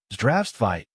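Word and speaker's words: Здравствуйте: It's not Zdravstvite, it's Zdravstvite, with the stress on the first syllable. Zdravstvite.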